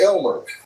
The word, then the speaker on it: Aylmer: The creature's name, as we learned from that of his thousands of years of mischief on the planet, is spelled Aylmer, so Aylmer, but it's pronounced Elmer.